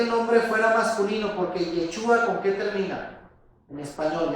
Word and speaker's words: Yeshua: fíjense, incluso ahí abajo ya lo puse, vean, Yeshua es en hebreo, en griego se pronuncia Yeshua, ya lo vimos cómo está escrito